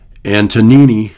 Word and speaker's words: Antonini: Antonini, is how you say it, and Rosenfield argue that